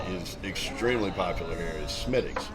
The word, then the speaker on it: Smithwick: that that uh is extremely popular here is Smithwick spelled Smithwick but pronounced Smithwick and uh the beer that Havoc developed with